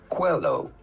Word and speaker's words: Coelho: How do you go about pronouncing his name? Paulo Coelho. Coelho. Pretty straightforward once you know.